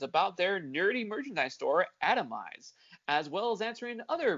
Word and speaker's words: Atomized: It's not Atomize? No, it's atomized.